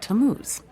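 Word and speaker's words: Tammuz: what t a m m u z it's pronounced tamuz maybe if you show him your evidence he'll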